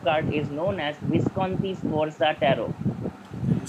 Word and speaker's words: Sforza: portraits of the Duke Francesco and the Duchess Sforza. And that's why this set of cards is known as Visconti Sforza Tarot. Can you spell it, sir? Visconti, V-I-S-T. Visconti, hyphen Sforza.